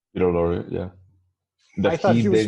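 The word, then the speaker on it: Peter Lorre: I liked the scene where how do you pronounce the actor's name is it Peter Lori Peter Lori yeah I thought he was fantastic yeah and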